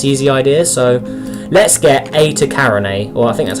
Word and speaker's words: Eta Carinae: So let's get Eta Carinae, or I think that's how you say it.